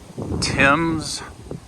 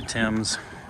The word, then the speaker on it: Thames: And we just stopped by the Thames River just outside London. One of the most famous rivers, I would think, in the world or at least known rivers. It's spelled weird, like Thames.